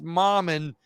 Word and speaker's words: Mammen: my Louisiana friends you know his name is pronounced mom and but he likes to say Mom and them